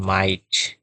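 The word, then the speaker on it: might: পরবর্তীতে আমরা দেখতে পাব যেমন মাইট। মাইট অর্থ হচ্ছে হতে পারা। এখানে দেখো এই তিনটা কনসোনন্ট সাউন্ড পাশাপাশি আছে যার কারণে জি এর উচ্চারণটা হচ্ছে না।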